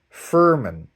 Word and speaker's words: Furman: Much love to Isabel Furman, right?